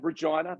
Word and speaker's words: Regina: America we're in Canada Regina the town that rhymes with fun and uh and uh